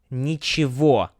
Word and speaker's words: Ничего: Ничего, nothing, pronounced with a V sound, not G.